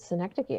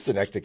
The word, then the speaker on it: synecdoche: i always i i i always pronounce it synecdoche i thought that was i'm like oh well maybe it's that like i don't know i've just i've just seen it and then i went i'm like hey internet how do i pronounce this and it said dana you've been wrong it is synecdoche yeah it is just